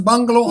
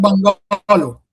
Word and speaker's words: bungalow: The stress lies on the first syllable. So it's a bungalow and not bungalow. And not bungalow.